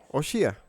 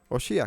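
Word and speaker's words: הושע: los voy a recordar oseas en hebreos Cómo se dice oshia osia que significa salvación y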